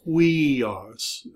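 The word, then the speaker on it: υἱός: It's pronounced we. So with a rough breathing, it's huios. This is the word for son, like son of God.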